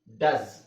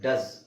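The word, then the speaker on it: does: ಮಾಡಬೇಕು ಅದನ್ನ ಶು ಉ ಡಸ್ ಇಲ್ಲಿ ನೋಡಿ ಓಎ ಬಂದಿದೆ ಓ ಇದೆ ಅಲ್ಲಿ ಅಂತ ಹೇಳಬೇಕು ಡಸ್ ಅಮೀಬಾ ಇಲ್ಲಿ ಓ ಮತ್ತೆ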